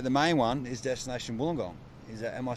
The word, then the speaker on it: Wollongong: saving Isuzu but the main one is destination Wollongong am I saying it correctly yep destination gong